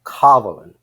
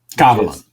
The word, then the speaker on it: Kavalan: It's Kavalan. Kavalan. And the emphasis with almost like there's an invisible H after the first A.